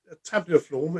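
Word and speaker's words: tabuliforme: I'm never going to say it right, but tabuliform?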